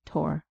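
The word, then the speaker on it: Thor: to take care of she pronounced it tor tor o you've named the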